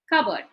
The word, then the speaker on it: cupboard: is a noun or an adjective the first syllable is stressed cupboard now if you look let us do the